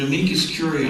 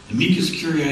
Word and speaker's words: amicus curiae: So I wrote up an amicus curiae affidavit. Amicus curiae simply means friend of the court. Okay? How do you spell that?